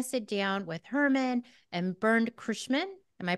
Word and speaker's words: Bernd Curschmann: We're going to sit down with Hermann and Bernd Curschmann. Am I pronouncing that right?